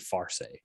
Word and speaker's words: Farse: Oh, I think I was saying Lar. It's supposed to be Farse. F with an F. I mispronounced it.